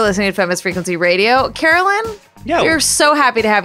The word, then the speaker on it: Carolyn: spell carolyn out because every time i go to a coffee shop and i say my name is carolyn they always always write caroline and my name is not caroline i know and we